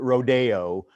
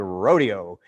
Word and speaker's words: Rodeo: a dance called rodeo now we kind of pronounce it rodeo i think that's the fancy way to pronounce it but it's really a rodeo and it's about a